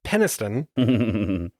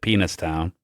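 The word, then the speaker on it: Penniston: Sergeant Jim Peniston. Some might pronounce it Penis Town.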